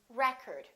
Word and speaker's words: record: is this word pronounced record or is this word pronounced record it depends on if it's a noun or a verb I would like to get the new record record first syllable he broke the world